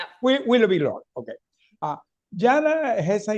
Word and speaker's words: Willoughby-Lohr: I'm pronouncing okay. Uh Willoughby Lore. Yeah. Willoughby Lore.